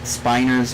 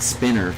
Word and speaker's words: Spiner: when they took Brent spiner's voice and uh I think it's pronounced Spiner isn't it it's not spinner right they would have two ends if it was spinner right it's finer and I think it's